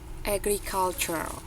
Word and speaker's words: agriculture: agriculture. Agriculture. Jadi yang huruf T-nya itu, T sounds-nya itu udah nggak terlalu kedengeran.